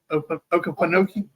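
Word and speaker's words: Okefenokee: Okefenoki. Okefenoki. Okefenoki Swamp. I thought it was Okefenoki with a P. I didn't realize it was with an F.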